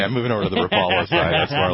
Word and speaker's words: Rapala: Rapala or Rapala, depending on which side of the room you're sitting on in here.